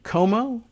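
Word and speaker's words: Comeaux: c-o-m-e-a-u-x you know that i understand the frenchified pronunciation of the ending como really i mean i guess so right a republican campaign staffer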